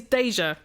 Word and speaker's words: Deja: I speak as an expert since my name is Deja. Pronounced like the French term déjà vu.